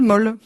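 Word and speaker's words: Mohl: Monsieur et Madame Bith habitaient dans le 16e arrondissement, évidemment, parce que c'est des cousins, avenue du Général Moll. M-O-H-L, évidemment. Prononcé à l'allemand, le Moll.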